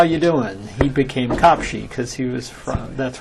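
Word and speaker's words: Kaposi: capes well done and even though we all say capes um he pronounced his name copi that hasn't g a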